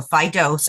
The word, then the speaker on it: Fidose: it for people yeah so it's Fido f-i-d-o-s-e so phy dose of reality I wanted